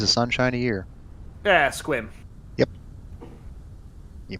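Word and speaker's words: Sequim: Yeah, Squim. Yep. You pronounced it correctly.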